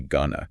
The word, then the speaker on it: gonna: But in fast, relaxed speech, we often do not pronounce every letter. Really? You know how to say going to? We say gonna.